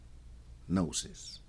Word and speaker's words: gnosis: Uh cuz if you notice the word nosis spelled G N O S I S, man, you gota you got to think about the word hypnosis and all this.